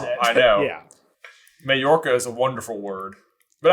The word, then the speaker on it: Majorca: holiday home, also in Majorca. Also in Majorca so they can join Yvonne. Or, as I pronounced it for the first 37 years of my life, Muh-jorca.